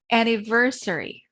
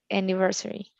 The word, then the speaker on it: anniversary: i can repeat please anniversary anniversary thank you renata stress is on the third syllable okay next reneta please